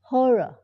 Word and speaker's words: Horror: Like long Meeting they don't like her horor Horror horor ออก เสียง เป็น เอ่อ ๆ นะ ฮ